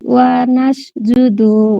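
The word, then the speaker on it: وَنَسْجُدُ: ওয়ালাকা নুসাল্লি ওয়া নাসজুদু ওয়া আবার আবার ইলাইকা নুসাল্লির পরের শব্দ কি বলেছেন? ওয়া নাসজুদু হ্যাঁ, সিন ভালো করে উচ্চারণ করেন, ওয়ানাসজুদু।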